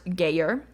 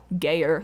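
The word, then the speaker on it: Geijer: Leonard gayer uh from it's like GE e i uh j e r and there's like the the Y is like two syllables and I can't quite pronounce it quite right it's not just gayer like Grant it's like y y i that was so unexpected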